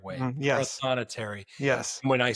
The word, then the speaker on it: Prothonotary: Prothonetary. Yes. When I spell it, every time I spell it, I have to say proto notary.